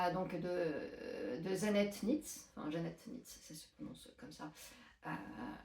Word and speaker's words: Zanete: en tout cas donc ça se prononce Jeanette d'après ce que j'ai compris alors que ça s'écrit Zanette bon bon Janette NZ qui